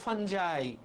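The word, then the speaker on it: fungi: এফ ইউ এনজি আই। উচ্চারণটা হল ফাঞ্জাই। ফাঙ্গিনা।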